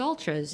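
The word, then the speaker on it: Altras: to do it now I've ordered new altres it's Ultras it's you know why is it spelled with an a I have no idea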